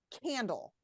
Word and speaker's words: candle: Okay, so candle. Which of those syllables do you think has the stress, has the clear vowel sound? Maybe I say it with a little Candle. more. Well, it has to be that first one because I don't even